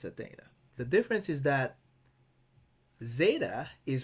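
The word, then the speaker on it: ζῆτα: Zeta can be pronounced like Z in zero or like D in ads.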